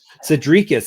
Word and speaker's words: Sedriques: Sadrius is how you say it.